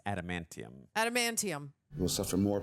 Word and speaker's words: adamantium: Oh, the aluminium. Even though that's not what it's called. I'm the king of mispronunciations, but I believe it's adamantium.